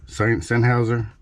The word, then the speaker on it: Sennheiser: pair of seinhauser I guess that's how you pronounce it Sennheiser Sennheiser Sennheiser anyway this pair of headphones these